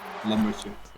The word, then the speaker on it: Lambertje: Yeah, he's Dutch, so I know how to say his name. Lambertje.